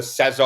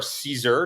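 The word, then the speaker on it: CESSAR: it was something called the Cesar or Caesar depending on how you pronounce it c s AR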